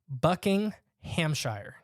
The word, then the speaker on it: Buckinghamshire: is a bucking okay bucking Hamshire okay buckinghamshire buckinghamshire that's like you just got to say it all as like one syllable exactly it's what they do another interesting story that's